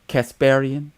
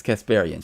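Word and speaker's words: Kasparian: I always say her name wrong. Casparian. Yes, Casparian.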